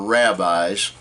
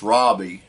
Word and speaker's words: rabbi: of Jewish robbes or rabbis and actually is pronounced Robbie not Rabbi r a b but